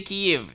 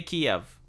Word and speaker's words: Kyiv: The reason why they say Kyiv is because that is the Ukrainian pronunciation rather than the Russian pronunciation.